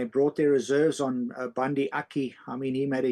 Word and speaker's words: Aki: How you pronounce Aki? Aki, yeah, Bundi Aki.